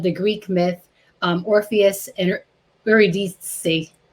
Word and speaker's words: Eurydice: It's a retelling of the Greek myth, Orpheus and Eurydice. How do you say that? Eurydice.